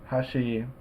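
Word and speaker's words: 端: first Mora huh um in Hashi the accent is on the second Bora she and in the third word Edge how she um neither Amora is accented um so when I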